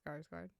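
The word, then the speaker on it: Skarsgård: so sorry no offense Bill scars guard it's scars guard no worries I got you um no they're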